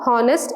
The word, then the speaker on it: honest: For words such as honor, honest and hour, where the H is silent when we are pronouncing these words, we use an.